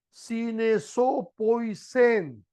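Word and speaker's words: συνεζωοποίησεν: Es una palabra griega, esa frase proviene de una palabra griega que se pronuncia sinesopoisen. Sinesopoisen.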